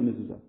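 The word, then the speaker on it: מזוזה: Dans la mezouza, ça se lit Zou, si ça se lit Zou, c'est uniquement parce qu'on a mis un chourouk dessus.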